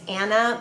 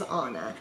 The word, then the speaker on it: Ana: a n a which some people say as anna but it is pronounced the way my parents pronounce it is anna they named me that name but then they